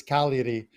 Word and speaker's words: Cagliari: The G is silent. It's Cagliari. Just so it's all good because we think of like hockey. You'll think of the G's like in hockey, Calgary, right? So it's Cagliari.